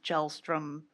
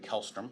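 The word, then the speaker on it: Kjellstrom: for example, the Elving Gelstrom, I don't know if I'm saying that Alvin right. Kellstrom. Kellstrom, thank you.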